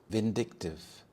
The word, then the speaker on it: vindictive: to impress his friends vindictive vindictive the stress is on the second syllable so we have vindictive this means having or